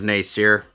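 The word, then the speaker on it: Nasir: How's her name pronounced? No. It is Nacier.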